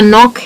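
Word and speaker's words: knock: के एन है, जैसे कि नाइफ है या नॉक है या नो है, तो उनमें हम के को कर देते हैं साइलेंट।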